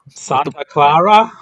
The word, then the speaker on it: Santa Clara: Wow, you're not even going to pronounce it right. Uncultured. Yeah. Santa Clara.